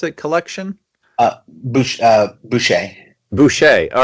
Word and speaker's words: Boucher: Is how you pronounce it? Collection? Boucher.